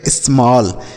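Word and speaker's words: small: उसी तरीके से एस एम A double L, तो एस से आधा श, एम से म, ए का उच्चारण अ के रूप में ऐसा लिखेंगे, डबल एल से ल, लिखा गया स्मॉल, ठीक है बच्चों।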